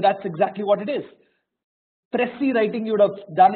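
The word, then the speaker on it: précis: called grammar but that's exactly what it is pressy writing you would have done in your 10th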